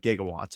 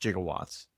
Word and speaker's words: gigawatts: It was 1.21 gigawatts of electric to power the electricity to power the flux capacitor, okay? Which I do believe he pronounced jigawatts.